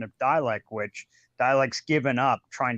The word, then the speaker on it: Dalek: Like I also have the Canadian pronunciation of Dalek, which Dalek's given up trying to correct me on.